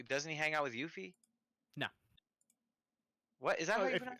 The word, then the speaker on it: Yuffie: By the end of this game, are you It's gonna- going to be are you going to cross paths with Yuffie or Sid?